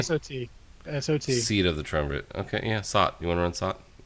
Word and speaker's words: triumvirate: There is a new dungeon, seat of, I don't even know, how do you pronounce this? Triumvirate? Okay, that sounds way better than what I would have said. Triumvirate. Triumvirate.